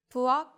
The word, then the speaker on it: 부엌: In all of these instances, the sound reverts back to the softest sound.